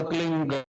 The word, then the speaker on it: क्लीं: ही मात्रा और बिंदी, उसका उच्चारण होगा क्लींग। गा की ध्वनि निकलेगी पीछे।